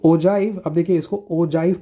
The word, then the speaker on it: Ogive: लिखा जाता है ओ गिव बट इसको ओजाइव प्रोनाउंस किया जाता है। यह जी जो है वो एक जे की तरह प्रोनाउंस होता है। ठीक? तो ये मिस्टेक बच्चे करते हैं। तो ओ गिव नहीं ओजाइव इसको कहते हैं।